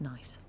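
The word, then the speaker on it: gneiss: a rock and that the g-n-e-i-s-s is pronounced nice very nice nice play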